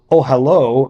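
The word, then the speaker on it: אהלה: means uh tent so ohalo means his tent which is pronounced consistent with its usual spelling as if the last letter were the letter VAV in Hebrew the masculine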